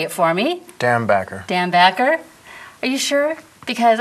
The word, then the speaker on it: Dambacher: So we have director Jon Dambacher, say it for me. Dambacher.